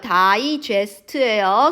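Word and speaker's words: digest: there body 그들의 몸은 다이저스트 발음 특이하죠 다이 제스트예요 소화시키다란 뜻이야 하지만 그들의 모음은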